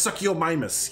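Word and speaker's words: Suchomimus: It's pronounced succomus.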